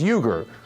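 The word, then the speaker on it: Uygur: Second name, surname is Uyghur. U-Y-G-U-R. Like you-gur.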